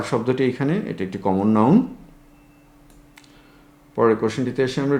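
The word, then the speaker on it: নঞ: এটা উচ্চারণটা অনেক সময় নই করা হয় বাংলা একাডেমির উচ্চারণ অভিধান সহ অন্যান্য যে অভিধানগুলোতে আছে সেগুলোতে ন বলা হয়।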